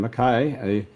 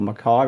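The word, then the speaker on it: McKay: On the other hand, Carlton, they were relying on their two big boys in Curnow and Mackay, or Mackay, whichever way you want to pronounce it.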